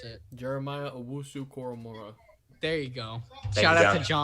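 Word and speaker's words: Owusu-Koramoah: I don't know how to pronounce it. Jeremiah Owusu Koromora.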